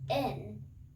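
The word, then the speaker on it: 円: five in japanese and yen is pronounced more like in so go in japanese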